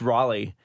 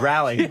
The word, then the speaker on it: Raleigh: the YouTube channel everybody i mispronounced raleigh i said it was rally and i heard from